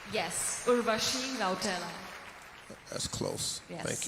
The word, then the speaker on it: Urvashi: Your question comes from Urvushi. Did I say it right? Yes, Urvashi Rautela.